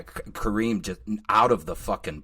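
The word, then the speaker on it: Karim: Was that Kareem? Is that how you say his name? Is that who did your cinematography? Yeah, Kareem, just out of the fucking park, man.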